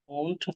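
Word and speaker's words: won't: আর আমরা যদি হচ্ছে কি নেগেটিভ করি তখন এটার উচ্চারণ কি হয়ে যায়? ওন্ট হয়ে যায়। ওন্ট I call. বুঝতে পারছেন? তখন উচ্চারণ কি হয়ে যায়? ওন্ট। এই জিনিসটাকে একটু মাথায় রাখবেন, উচ্চারণ তখন ওন্ট হয়।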